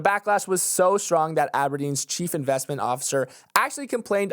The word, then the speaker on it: Abrdn: The poster child was Abrdn, pronounced Aberdeen, but written like a CAPTCHA code with no E's, who during that time